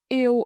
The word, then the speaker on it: yêu: In Northern dialect, yêu is pronounced very clear. It's spelled with three letters, e, and u. When you blend them, it sounds like ew.